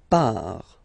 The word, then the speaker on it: part: Il, elle, part. Final T not pronounced.